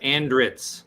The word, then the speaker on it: Andritz: Is it Andritz? Do we pronounce every word in every letter in that? Andritz. You nailed it.